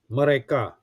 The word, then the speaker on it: mereka: Okay, so it's 3 syllables. Now, Indonesian words normally have the stroke on the third syllable or the last syllable. Okay, if there are three syllables, then the stroke will be on the last one, the third one. Okay, example, mereka. Okay, mereka. So the stroke is on ka.